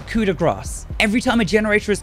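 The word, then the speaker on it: coup de grâce: is cuda grass now i was calling this coup de gras for a long time thinking that i was really fancy and pronouncing it right but i've actually been informed by french speakers that it is cuda grass every time a generator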